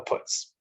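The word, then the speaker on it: putz: proved to be a puts so or putts i guess actually i believe it's yiddish putts is i think the better pronunciation so since world war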